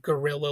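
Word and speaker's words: guerrilla: You know, not gorilla like the animal, but gorilla like the fighter. Those words have always thrown me off because they are definitely similar even in how you pronounce them.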